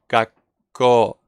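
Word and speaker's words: 学校: It's basically like you make a silent gap, as Lynn said, gakko.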